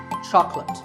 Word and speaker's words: chocolate: just about everybody loves chocolate when you ask for this at the store make sure that there are only two syllables Chuck and lips chocolate and remember there is no late in chocolate speaking of chocolate how